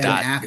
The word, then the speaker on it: Gadot: Ben Gadot. Affleck and Jeremy Irons all making fun little Gadot. She's not French. You say the T. She said it specifically. She's Israeli. You pronounce the T.